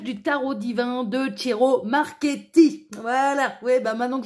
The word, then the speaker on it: Marchetti: éclairer votre lanterne alors le C et le i là c'est c'est plus une une voyelle derrière en italien et bien ça se prononce cheveux et le CH contrairement aux Français ça se prononce que voilà alors moi qui